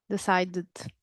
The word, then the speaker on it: decided: Ah, decided. That's right. Because it's a D. If there is a D or a T, we're going to have an additional vowel at the end.